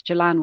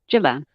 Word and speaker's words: Gilan: remember um is that it's Jalan with a soft G it it's just a nice thing that makes me feel warm and fuzzy inside when people use the soft G for my name Jillian uh two I'm not